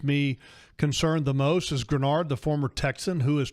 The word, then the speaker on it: Greenard: It's not spelled like it's pronounced. It's Greenard, okay, on the back of the jersey. But don't be confused, folks. His last name is actually pronounced Grenard, Jonathan Grenard.